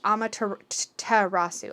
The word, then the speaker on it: Amaterasu: one first figure but here it pronounced amateur rasu amaterasu so i think i'm saying that right so this is the beautiful and shining amaterasu reminds us that when